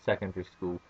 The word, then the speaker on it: secondary: school you go to secondary school and and notice I don't pronounce the a in secondary it's just Secondary School